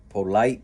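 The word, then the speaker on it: Pöltl: uh I caught on Patel is not Patel it's Pope polite polite something like that uh but you guys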